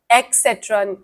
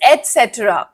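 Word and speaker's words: et cetera: बताओ क्या होगा, एक्सेट्रा या एटसेट्रा? क्या होगा? Okay, just a second. I वॉज a little bit never mind. Yes Devika, हम पहले इसको देख तो लें. ओके, इसका प्रोनाउंसिएशन क्या होगा बच्चों? सबने दे दिया. लेट्स सी the answer, shall we? Okay, so the answer is एटसेट्रा. ठीक है, आपने मेरे साथ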